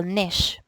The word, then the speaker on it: niche: So what whenever we talk about ecological nish, hindi po ito it's not pronounced as niche, okay?